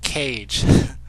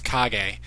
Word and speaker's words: Kage: Now, I've heard different pronunciations of Uncle Kage. I've heard most commonly I hear people pronounce it Cage. But the correct pronunciation is Kage. So that's a common mistake.